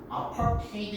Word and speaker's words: apartheid: 아파르테이드는 아파트르 헤이트라고 뭐 이렇게 써놨는데 아파르테이드 이렇게 발음하시는 거고요.